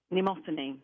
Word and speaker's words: Mnemosyne: How do you pronounce her name? Mnemosyne.